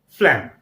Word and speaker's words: phlegm: So once again, you can pronounce it. It is phlegm.